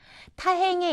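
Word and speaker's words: た: 타행에 있는 것도 이와 마찬가지로 단어의 처듬으로 왔을 때 타는 타 처듬이 아닐 때는 따에 가까운 느낌으로 발음을 하시면 되겠습니다.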